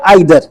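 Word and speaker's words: either: है नीदर का, और इनके दो साउंड हैं, दो प्रोनाउंसिएशन है, या तो आप इसे ईदर बोल सकते हैं या आइदर। ऐसे इसका जो अपोजिट है उसको आप नीदर भी बोल सकते हैं और नाइदर भी बोल सकते हैं।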